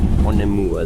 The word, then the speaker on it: Onehunga: Change here for Onehunga and Southern Line services. Onemua, that's how you say it.